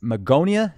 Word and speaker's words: Magonia: if we were to go back to the Magonia is that how it's pronounced that's right um Magonia was a fabled